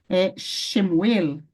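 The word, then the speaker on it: שְׁמוּאֵל: Como, por exemplo, aqui nós temos escrito Shemuel, She, porque She, Shin, mas She. Muel, Shemuel.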